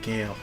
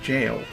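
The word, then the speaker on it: Gaol: Oh, that's why I keep pronouncing it Gale. In Elden Ring, it's pronounced jail. It's in a jail cell.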